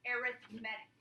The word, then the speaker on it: arithmetic: this word is now pronounced arithmetic okay and again most people forget it changes when you're talking about sequences it's it's just you just gotta know what it is just like most things aerith medic so remember the the accents on the aerith and then you say medic